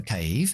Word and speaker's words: cave: The cave, ¿cómo sé que la A se pronuncia así? Pues que tengo la E al final, que hace que la A se pronuncie como el abecedario. Cave.